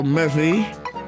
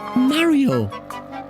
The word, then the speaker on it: Mario: Well now, Murphy. It's Mario. Bitch. Say it right or I will rob you.